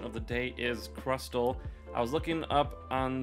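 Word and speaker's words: Crustle: also says crustal so the t is pronounced in that in that uh pokemon name and so yeah there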